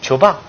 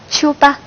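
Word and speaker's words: 秋巴: 没错，但是你发音发的不是很准确，正确的发音是秋巴。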